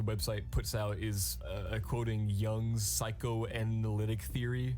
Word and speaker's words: Jung: for you guys okay oh it's young okay it's young anyways one of the theories on the website like the website puts out is quoting Young's psychoanalytic theory saying that